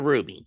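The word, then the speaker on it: RWBY: The rights owners to Ruby, spelled RWB Y, not RUB Y, cuz man is an acronym, not the name of the gem.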